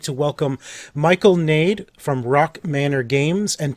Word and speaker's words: Gnade: It's Gnade. Oh, it is? You do pronounce the G. My apologies. Yeah. Michael Gnade.